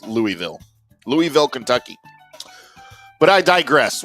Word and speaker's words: Louisville: Is it Louisville or Louisville? feel like I've been saying Louisville because here in close to Dallas we have a suburb called Lewisville but it's spelled differently but I hear people from there say Louisville and I gag a little bit when I say it like they say Louisville. I'm not saying it like that anymore. It's Louisville.